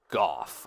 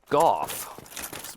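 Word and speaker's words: Gough: So he sells, yeah, so this is Goff, I think is how his name is pronounced.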